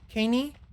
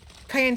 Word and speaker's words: cayenne: Caney? No, not Caney. Not saying... Cayenne. I don't remember how to pronounce that. I used to, not anymore. Cayenne? Cayenne. Like cayenne pepper.